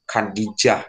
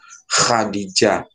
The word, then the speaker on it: Khadijah: salah bacanya Ibuk Habib Ibu Hadijah itu ada itu harusnya dibaca Ibu Khadijah atau pakai Khodijah meskipun kyaaaa itu ya